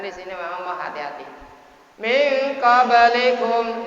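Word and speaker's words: مِنْ قَبْلِكُمْ: Min qablikum, nun mati bersemu dengan qaf, dibaca ikhfa.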